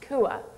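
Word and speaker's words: quav: m word is spelled Q UAV V but pronounced Kua Kua ah yes Kua is the s word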